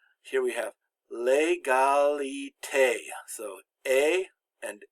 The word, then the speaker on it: égalité: It's always pronounced like the long A in English. Here we have L'égalité.